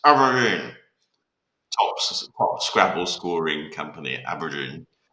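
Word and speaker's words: abrdn: It's pronounced Aberdeen. It used to be called Aberdeen, but it's pronounced Aberdeen.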